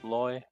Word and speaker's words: lawyer: say yeah yeah uh options are rhymes with boy and rhymes with flaw I lawyer Loy boy yeah I'd say